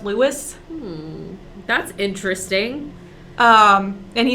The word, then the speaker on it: Louis: louis armstrong lewis armstrong i assume we should call him louis armstrong i'm gonna keep calling him louis he called himself apparently louie was also a nickname because his wife called him louie but he called himself lewis that's interesting um and